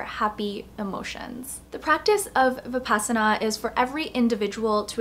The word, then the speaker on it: Vipassana: got back from attending my very first 10-day Vipassana silent meditation course, so I wanted to film a video to share my experience. First of all, what is Vipassana? Vipassana, or sometimes you'll hear it pronounced Vipassana, is a meditation technique that focuses